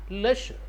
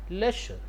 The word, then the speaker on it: leisure: How can pronounce it? Leisure. Leisure.